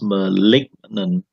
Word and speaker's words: malignant: in her breast or the n is behind the g so it becomes malignant malignant and benign means and